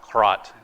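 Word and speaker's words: крот: Kpot, by the way, is the Russian word, actually pronounced krot. It's the Russian word for mole.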